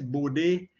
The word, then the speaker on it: Bode: signals called calls it bored right i'm not too sure how henry himself pronounced it he was um the name is dutch so i think it's body i believe i've heard